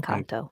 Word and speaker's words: Engkanto: Actually, so we're going to talk about, yeah, let's see if I'm pronouncing this right. Engkanto? Yes, En- Engkanto.